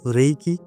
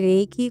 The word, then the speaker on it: Reiki: এখানে একটা কথা প্রথমেই আমি বলে রাখতে চাইছি যে রেইকি কথাটা শব্দ উচ্চারণটার কিন্তু দুটো একটা ব্যাপার আছে, যেটা একটা REIKI রেইকি যেটা বলছি, এটা কিন্তু ইংলিশ ওয়ার্ড না, এটা জাপানিজ ওয়ার্ড।